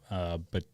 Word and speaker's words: Batarao: Today we have our good friend Teddy Batarao.